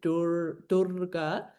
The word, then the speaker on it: Durga: So Durga, so it's pronounced with like the long U, Durga.